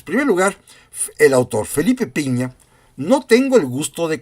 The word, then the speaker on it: Pigna: Pigna se escribe, pero creo que se pronuncia Piña, y se llama Conspiración en Londres.